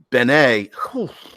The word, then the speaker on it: bene: like hero points, bennies, as opposed to the Italian word bene, or they pronounce it benny, but bene, wow, it is good in Italian.